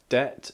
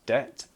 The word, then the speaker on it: debt: the word debt so that's why it's pronounced debt but spelled with a B dep slowly they may